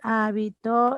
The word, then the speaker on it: hábito: Hábito. Habito y habitó, mira. Sí, en hábito el acento está en la antepenúltima sílaba esdrújula.